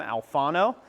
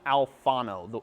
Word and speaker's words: Alfano: His name's Sam Alfano. I would suggest him. It's Sam Alfano. Exactly the way it sounds is exactly how it's spelt.